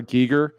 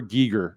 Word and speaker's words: Giger: I've seen an interview and it says I'm eager for Giger, so that's how I remember it. I love that. Okay. So if you're eager for Giger, it's H.R.